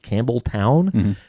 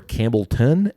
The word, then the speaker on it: Campbeltown: So, when uh when I was actually in Scotland, I asked a couple people, is it pronounced Campbell Town or Campbellton? And you get both.